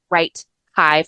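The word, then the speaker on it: WriteHive: It's especially it's sorry it's wr it's spelled as right hive like a beehive.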